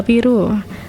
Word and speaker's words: Piroe: Pelafalan Piro dalam namanya berasal dari kata piru.